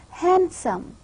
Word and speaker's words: handsome: pronounce the does own the pronunciation is not handsome rather the exact pronunciation is handsome the duh sound is omitted because the da sound